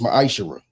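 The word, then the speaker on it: מעשר: Chapter 3 8-10 means 10th in Hebrew and is pronounced maisher.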